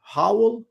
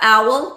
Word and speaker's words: owl: And I look at the telephone pole and I saw an howl. Is that how you pronounce it? What A is it? howl. A big bird with a Oh yeah, owl.